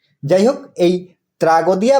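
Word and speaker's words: tragoidia: শব্দটি এসেছে গ্রিক শব্দ ট্রাগোডিয়া থেকে যার অর্থ সাকসঙ্গী গ্রিকরা ট ও ড উচ্চারণ করে না তাদের উচ্চারণ ত যাই হোক এই ট্রাগোদিয়া বা ট্রাগোডিয়া থেকে কিভাবে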